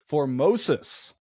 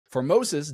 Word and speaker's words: Formosus: The answer is Pope Formosus. That's way wrong. You were close. For a ph. How do you spell that?